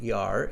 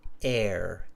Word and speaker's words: air: with the word air it's not er it's air air okay so just